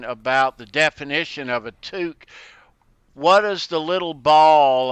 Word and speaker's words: toque: Ben calls them a toque yep t-o-q-u-e it's like torque with FDR but it's not toke it's two some people spell it